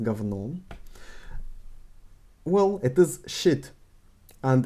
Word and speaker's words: говно: So here, говно, written говно, pronounced говно.